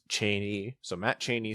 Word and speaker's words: Cheney: Matt Cheney, who corrected me on how to pronounce his name, it's Cheney.